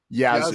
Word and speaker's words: Yazoo: Yazoo. Yazoo. Y-A-Z-O-O. I like That's a that. real city. Spelled like exactly that.